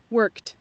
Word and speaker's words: worked: Aquí en pasado, miren, se escribe con ed, pero se pronuncia como una T. Escuchen. Worked.